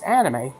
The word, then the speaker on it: anime: the pronunciation of anime oh it's not anime it's omni make you know I